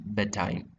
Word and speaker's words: bedtime: than saying bed time, you would say bedtime. So what happens is here d is omitted. So ഇവിടെ d എന്ന് പറയുന്ന സൗണ്ടിനെ നമ്മൾ എന്ത് ചെയ്യും? You actually drop that sound and it is pronounced as b a time, bedtime. Okay, rather than saying bed time.